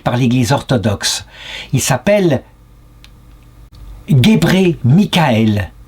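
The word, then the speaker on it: Gebre Mikael: l'Église orthodoxe il s'appelle gébré Michaël ce qui s'écrit Gabra Michaël mais se prononce gébré Michaël ce qui signifie en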